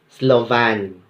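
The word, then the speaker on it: Slovin: compute the sample size we usually compute the Slavens formula yes it's pronounced ah Slovan we have work and done the Cochran's formula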